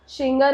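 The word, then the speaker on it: Singer: शिंगर and, pronounce शिंगर करते हैं but spelling is सिंगर का.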